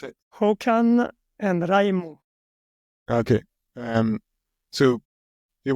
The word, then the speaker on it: Håkan: How do you pronounce it? Håkan and Raimo.